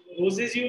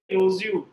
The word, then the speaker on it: Rousseau: रोजेज यू नहीं, रोज यू, ROU SSEAU, हाँ अभी पढ़ना शुरू करो।